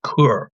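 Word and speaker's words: cœur: Courage actually courage that is actually root in the French word cur pronounced cur meaning heart.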